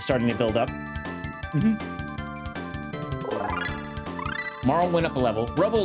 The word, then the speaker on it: Marle: When I was younger, I said Marley and I was corrected in my adult life as Marl.